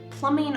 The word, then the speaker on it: plumbing: Plumbing are the pipes that bring the water to your faucet and then away from your drain. Notice that the B here is silent. Plumbing, plumbing. We're going to be talking